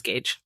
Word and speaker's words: Gage: We said his name was Grant. It's not. It's Gage.